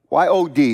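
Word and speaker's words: יוד: Y-O-D is pronounced Yod.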